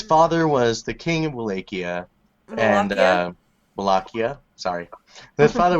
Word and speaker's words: Wallachia: Wallachia.